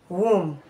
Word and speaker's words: womb: subtle death doubt WR letter B can as well be silent after letter M in word finals for example lamb tum k womb thumb thumb climb climb Plum